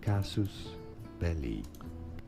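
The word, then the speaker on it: casus belli: There are two different ways of pronouncing it to make it sound more Latin. It is generally said as casus belly. Kasus belly.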